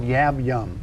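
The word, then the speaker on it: yab-yum: start off um now there's a position called yab yum right is that right pronounced right that's correct and explain that that's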